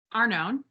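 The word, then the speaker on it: Arnone: we can have a conversation about how to pronounce this woman's last name a-r-n-o-n e-a-r-n-o-n-e are known are known lea are known that sounds much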